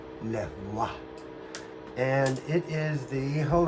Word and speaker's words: Levoit: But my wife, rather smart, has told me that it's pronounced Lavoit.